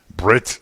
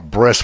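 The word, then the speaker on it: ברית: with an same letter if they pronounce it like an s instead of like a t so it's commonly called the bris when you go to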